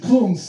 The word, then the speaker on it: Kungs: Conks pronuncia Conks, anche Valentin Brunel, is a fresh face producer from the south of France.